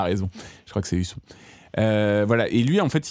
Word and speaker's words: Husson: Husson, je ne sais même pas Alors, comment on Pour moi, prononce. c'est Husson, parce que du coup, il y a deux Voilà.